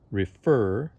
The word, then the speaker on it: refer: with a line above the part that's stressed in this case this word r e f e r refer notice that the second sound in the word is stressed refer begin so for